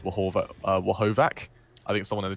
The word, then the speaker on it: Horvath: And a bit of a note to those watching, and well as casters, VR Horvath, his name is pronounced Wahovac.